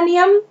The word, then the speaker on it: knee: यहाँ पर KNEE, KNEE, इसको हम के नहीं पढ़ेंगे। के जो है वो साइलेंट लेटर है, यहाँ इसे हम पढ़ेंगे N से, नी, नी यानी घुटना, नी।